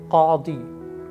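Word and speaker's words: قاضي: It has two important Arabic alphabet which are difficult to pronounce. One is qaf and another one is wad, wad. So qadi, qadi, qadi, qadi. This is the pronunciation, qadi. Try to say it several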